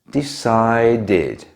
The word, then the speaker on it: decided: Lastly, if a verb already ends in a t or a d sound, we still add the letters ed, but in this case we pronounce it like id. Decide, decided. Wait, waited.